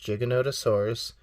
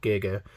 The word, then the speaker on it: Giganotosaurus: really is speaking of Giganotosaurus yes it is pronounced Giganotosaurus obviously we said that in our Beyond T-Rex